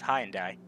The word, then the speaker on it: Hyundai: said that wrong it's how do americans say it hyundai hyundai that sounds wrong to me it's high and die shouldn't they all right